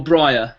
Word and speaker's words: Briar: actually br b-r-i-a-r like like the plant right r yeah or briar it would be pronounced